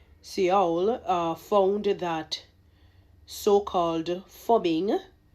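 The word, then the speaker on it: phubbing: uh found that so-called fubbing that is ph u bb I n g you know that I'm assuming that's how they pronounce it fubbing uh snubbing someone in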